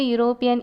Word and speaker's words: European: Last week I met a European in the mall. Here in the first sentence, the word European start with the vowel E. But when we pronounce the word, you get the sound of U, Y-U.